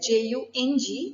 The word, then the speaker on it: Jung: Now, although the spelling is Jung, it is pronounced as Jung, who lived from 1875 to 1961.